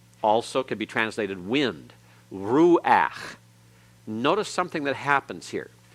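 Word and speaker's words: רוּחַ: is pronounced after it but when it's the last letter in a word and that letter is a guttural and the path that goes under it it's pronounced before the constant so this is now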